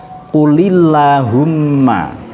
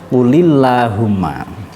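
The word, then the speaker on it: قُلِ اللَّهُمَّ: nyawa shop cara bacanya qulillahumma tadi lafadznya tulisannya full Allahumma membacanya qulillahumma yang seterusnya ini agak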